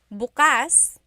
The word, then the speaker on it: bukas: If you say bukas buas the emphasis is on the second syllable that means open. If you say buas emphasis is on the first syllable that means tomorrow.